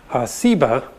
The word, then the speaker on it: Seba: is related that has just a different s sound seba and ugly explains that